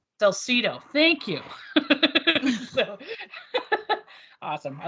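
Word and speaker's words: Salcedo: if I'm gonna say this right let's just spell it out s-a-l-c-e-d-o Missouri Salcido Salcido thank you so awesome I love how you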